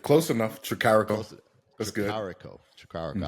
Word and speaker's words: Tricarico: Today's guest, Will Tricarico. Did I say it correctly? All right. Close enough. Tricarico.